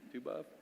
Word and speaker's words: Tu B'Av: Tu B'Av?